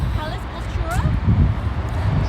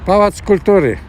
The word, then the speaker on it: Pałac Kultury: Palace Cultura? Palace Cultura? Is that how you say it? Well, yeah, I would say that cultural palace. Okay. Pałac Kultury. Palace Culture. Pałac Pałac Kultury.